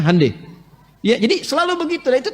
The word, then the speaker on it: Hyundai: Honda mereka bikin Hai Hyundai itu dibacanya Handai ya jadi Selalu Begitu